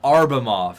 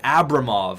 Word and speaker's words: Abramov: It's actually Abramov. A lot of people are saying, you're pronouncing it wrong. I'm going to keep calling it Arbamov because I've been doing it for so long, but technically it is Abramov, and he was a